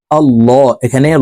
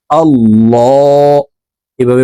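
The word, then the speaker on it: الله: যাবে আল্লাহুম্মা সাল্লি আলা আল্লাহ এখানে ল বলে উচ্চারণ করতে হবে কারণ আল্লাহ শব্দের আগের হরফে জবর অথবা পেশ হইলে এই লামকে ল অর্থাৎ মোটা করিয়া পড়িতে হয় তো এখানে দেখুন আল্লাহ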